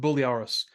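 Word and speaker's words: Briareos: other main character this is uh yes uh buliaros that's it's been like very hours but it's pronounced bulliaris and it has a long Greek sounding last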